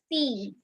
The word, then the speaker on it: six: that thank next number is six which is pronounced as sees sees c e a s e can be